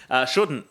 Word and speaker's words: shouldn't: Shouldn't. Why has it got an L in it?